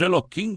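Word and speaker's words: Elohim: Eloquim, que pronunciamos Eloquim com K por reverência, está associado ao atributo da justiça e do julgamento Midat Hajin, enquanto ao nome sagrado Yodrivavri.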